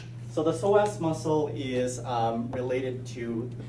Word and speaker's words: psoas: All right, so the psoas muscle, the P is silent. So the psoas muscle is related to the bending.